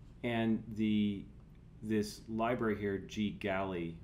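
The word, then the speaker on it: GGally: the this Library here G galy or GG Ally I think is probably how it's pronounced is a collection of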